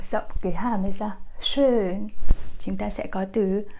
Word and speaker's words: schön: Không phải là sharp các bạn nhé. Nhiều bạn sẽ nói là schön sharp. Như thế thì không đúng.